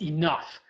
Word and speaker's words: enough: do another example is enough looking at that how on earth would you know the gh is pronounced as an f sound so english is not